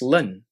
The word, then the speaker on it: ln: we would write it like this Ln pronounce Lun and on your calculator you should be able to find this button here we could rewrite this final expression as x equals Lin five so to summarize